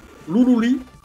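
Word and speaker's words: ルルリ・ラ・ルラ: Alors ça s'écrit Ruruli, Ra, Rura. Mais notre ami Florent Gorge nous dira, ouais mais attendez, les R ils sont prononcés comme des L. Donc quelque part, ben, Ruruli, Ra, Rura, faut le prononcer, Loulouli, La, Loula.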